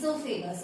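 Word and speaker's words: oesophagus: कह सकते हो ो फेग ओ साइलेंट होता है ो फेग कहते हैं चलिए अब इसकी बात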